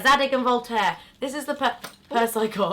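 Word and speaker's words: Zadig & Voltaire: I can't even, how do you pronounce it? Is that right? Zadig and Voltaire? Yeah, Zadig and Voltaire.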